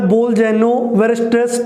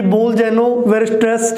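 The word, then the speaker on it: Bolzano-Weierstrass: उसके बाद जो नेक्स्ट हमारा टॉपिक है वो है बोल-जेनो-वेरस्ट्रेस थ्योरम। अब इसको शॉर्ट में आप BW थ्योरम भी बोल सकते हैं भी, क्योंकि कई स्टूडेंट्स को इसकी प्रोनाउंसिएशन में काफ़ी दिक्कत रहती है, यानी कि बोल-जेनो-वेरस्ट्रेस थ्योरम, ठीक है ना।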